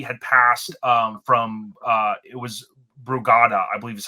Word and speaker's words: Brugada: course, that he had passed from it was Brugada, I believe is how you pronounce it, Brugada syndrome.